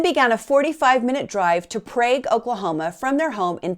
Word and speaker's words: Prague: transaction, and then began a 45-minute drive to Prague, Oklahoma from their home in Pottawatomie County. Prague, Oklahoma is a pretty rural area. It was named after Prague by early settlers, but they say it Prague in Oklahoma.